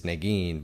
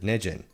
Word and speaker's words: Negin: So my wife's name is Negin, but when I ask Siri, she butchers her name, calls it Nejin.